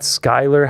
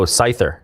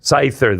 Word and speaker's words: Scyther: Um and then uh it's not Skyler. How do you pronounce it? Oh, Scyther. Scyther.